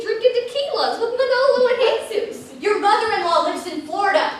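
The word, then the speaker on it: Jesús: and jesus monoglo and jesus you don't pronounce jay where is your j manolo and jesus stop worrying will you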